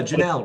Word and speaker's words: Janal: name is janel he's an amazing guy did i pronounce your uh your name last name correctly yeah janelle rhymes with canal it's a lot easier